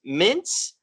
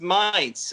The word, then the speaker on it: Mainz: we have frankfurt versus mints uh and we're gonna look at this match up i don't think i said that right how do you say it ian close enough it's months it's mines okay expecting another good game